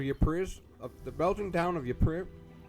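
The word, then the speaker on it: Ypres: So dubbed wipers by British troops due to its difficult pronunciation. The Belgian town of Yupri, the Belgian town of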